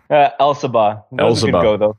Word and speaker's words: Elsabbagh: I've got my man, Elsabbagh. That's wrong. Run through that. How do you say it? Elsabbagh.